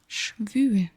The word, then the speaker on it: schwül: Schwül. The U has two little dots on top.